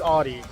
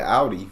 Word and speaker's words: Audi: we say wrong where in the US is Audi in the US we call it Audi A lot of times but Audi think like ow I hurt myself Audi that most people I know call it Audi like I always say Audi I never I've